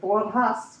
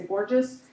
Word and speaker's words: Borges: surname of um moris pronounced it correctly as like boras but it's in America we say Borges it's Portuguese and the Portuguese